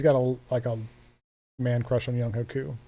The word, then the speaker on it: Younghoe Koo: Yeah, he's got a man crush on Younghoe Koo, or Youngwei Koo. That's how you say it.